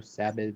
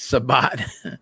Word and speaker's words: Sabat: just want certain ones is that like Chris sabat or whatever savage or whatever his name is sabat is Vegeta Savage Savage it's sabat I'm conf you know